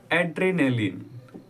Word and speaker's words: adrenaline: यूं है, देख लो पहले स्पेलिंग, उसके बाद प्रोनाउंसिएशन देख लेंगे। ADRENALINE, एड्रेनालिन।